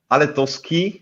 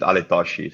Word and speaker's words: Aletoski: I don't know, because Aletoski is the way I pronounce it, but some people are pronouncing it Aletoshi.